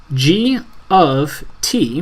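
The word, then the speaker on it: G(T): parenthesis, T, right parenthesis, which is pronounced as G of T.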